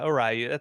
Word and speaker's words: Orayu: Do I pronounce that right? yeah, Orayu, that's fine.